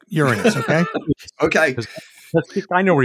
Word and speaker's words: Uranus: to go to uh uranus which is by the way the right the correct way to pronounce it uh john take note uranus okay okay i know